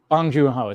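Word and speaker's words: Bong Joon-ho: never say his how do you say J bong junho bong junho there you go not Boon bong bong yeah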